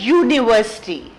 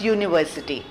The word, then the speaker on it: university: of a you like university you know the way you pronounce y o u you that's how you pronounce university right it has a